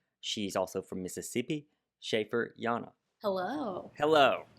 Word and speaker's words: Llana: Joining me today, she's a singer, she's a songwriter, she's also from Mississippi, Schaefer Llana. Hello. Hello. The double L pronunciation.